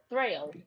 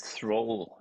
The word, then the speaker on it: Thrayle: Thrayle.